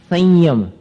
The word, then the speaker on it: संयम: संयम, तो अनुस्वार का उच्चारण कैसे हो गया? आगे जो य आया है उसके अनुकूल हो गया, संयम, ञ जैसा, च छ ज झ ञ।